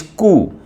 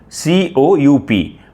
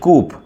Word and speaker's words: coup: The 11th word is coup c o u p. See c o u p. Otherwise some people pronounce it or might pronounce it coupe.